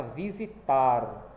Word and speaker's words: visitar: Como por exemplo aqui tem a palavra visitar. Então qual é a sílaba que é pronunciada com mais força? É o tar, né?